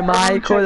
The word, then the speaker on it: Michael: Dopo un tot di anni ha capito che si dice Michael e... Due schiaffi. Kirim e Michael. Fanculo la pronuncia in inglese.